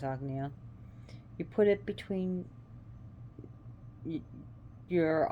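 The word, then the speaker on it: Ajna: chakra the agnea chakra which is spelled a g and a let's pronounce agnia you put it between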